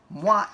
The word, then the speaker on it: Mwah: So Mwah is an acronym for that. Is that yes, right? That's exactly awesome, what it man. is. And it sounds like a kiss.